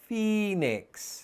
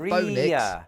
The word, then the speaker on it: phoenix: means that we pronounce it as E, so phoenix. Right, it's not phonix.